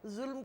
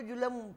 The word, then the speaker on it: ظلم: تو ظلم کو جلم وہ کہتے تھے.